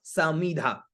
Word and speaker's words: समिधा: समीधा। स, म में छोटी ई की मात्रा, तो उसको छोटा ही उच्चारण करना है। स, मी और धा, तो उच्चारण क्या हुआ? समीधा।